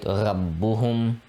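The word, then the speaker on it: رَبُّهُم: So here you can see we're pausing on the ba and pronouncing it twice, right? Rabbuhum, rabbuhum.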